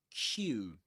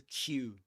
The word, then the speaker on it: queue: And for example, today we discussed how to pronounce this word Q. Q. And we said that the well we we pronounce it just like the letter Q, right?